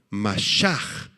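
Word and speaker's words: משח: da cuando Cristo regrese el término ungir apúntalo mashaj m a s h a H mashaj es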